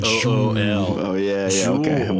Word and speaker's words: Jewel: You have to pronounce it Jool.